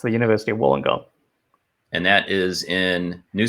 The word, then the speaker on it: Wollongong: do you say it it's the University of Wollongong and that is in New South Wales that's